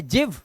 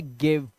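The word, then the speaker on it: give: आया अब ये क्या है जिव नहीं ये है गिव ये गिव है ठीक है तो मैंने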